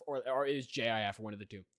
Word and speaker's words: GIF: I want to name both of my children g i f or or is Jif or one of the two no it's GIF